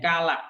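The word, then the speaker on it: កាល: end in u, so we have to drop the final vowel.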